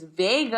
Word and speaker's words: Vegas: Vega, my line sister's name is Vega. I'm talking about Vegas. Her name is spelled Vegas, like Vegas, but she pronounces it Vega.